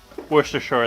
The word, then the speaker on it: Worcestershire: Worcestershire going in there. Worcestershire, that's that's how it's it's pronounced.